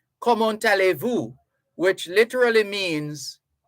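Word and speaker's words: comment allez-vous: ask you common tales common tale but because a vowel follows the t you run it on a a l l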